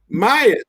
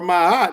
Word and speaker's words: Ma'at: And in Kemet, that was known as Mayat or Ma'at. It can be pronounced many different ways, spelled M-A-A-T.